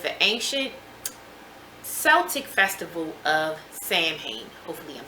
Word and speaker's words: Samhain: Halloween's origins date back to the ancient Celtic festival of Samhain.